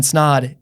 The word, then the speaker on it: Snod: My name is Snod. It rhymes with odd, and we'll catch you in the next episode.